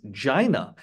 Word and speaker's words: Gina: Gina Raimondo. If you guys remember 40-year-old virgin, the alternate pronunciation of Gina is Gina.